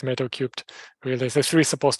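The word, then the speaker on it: Metal3: metal cubed um yeah you can pronounce the meta-3 but the canonical way is metal cubed really the three is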